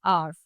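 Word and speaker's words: hour: आर्फ आर में भी अगर हम बात करें एच होता है एच ओ यू आर लेकिन यहां पर एच साइलेंट है। हम बोलते क्या है? आर्फ।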